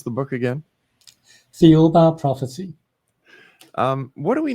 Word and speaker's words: Thiaoouba: And how do you pronounce the book again? The Uba prophecy.